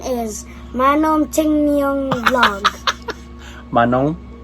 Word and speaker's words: Manong Timyong: The name is Manong Timyong Vlog.